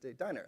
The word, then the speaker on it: Diner: Next to him is Hasia Diner, as she told me, Diner, like the restaurant.